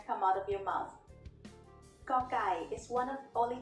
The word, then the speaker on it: ก: The sound of Gokkai as the initial consonant of a syllable is G. It is very similar to a hard G or an unaspirated K.